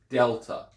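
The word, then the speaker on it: δέλτα: is also different so instead of having that light t h sound you have the hard D sound so Delta so if you look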